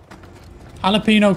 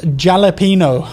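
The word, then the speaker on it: jalapeño: gg it's pronounced jalapeno i thought it's jalapeno it's a silent j you just say it like an h or am i incorrect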